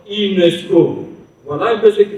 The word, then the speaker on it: UNESCO: aussi un sigle, mais le mot est prononcé de manière normale, c'est-à-dire que UNESCO. Nous avons bien sûr que là, nous avons aussi des initiales, mais ils sont reliés. Et on les prononce UNESCO.